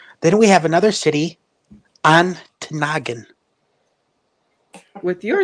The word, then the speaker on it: Ontonagon: Then we have another city, Ontonagon.